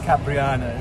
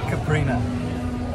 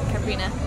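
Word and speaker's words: caipirinha: We used to call it Capriana. It's found out they're actually called Caprina. Yeah. It's still probably wrong. I think there's a little bit of a something else, but that'll do.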